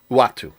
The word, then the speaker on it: Uatu: you say it again watu uatu okay uh i was calling him atu i was close atum let me just